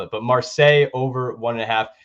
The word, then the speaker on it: Marseille: that play um secondly this is how you say it I think Marseille Marseille I hope I got that right but it's uh m-a-r-s-e-i-l-l-e right um that is going